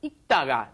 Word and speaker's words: 읽다가: Just 읽다가. The li을 발음 is not pronounced. There's no L sound. You just say 읽다가, as in when you just pronounce the basic form.